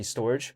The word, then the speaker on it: Storj: Take a look at, let's say in the case of Storj, or should I say storage, but it's spelled s t o r j.